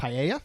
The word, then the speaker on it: paella: Paella.